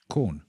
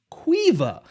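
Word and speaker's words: Caoimhe: I'd like you to guess how it's pronounced. C A O I M H E corn.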